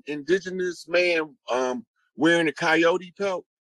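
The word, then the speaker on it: Kiot: whose totem is the coyote and it's it's um it's spelled that way and it sounds like coyote or kyot but it's a tribe it's not the animal so when they did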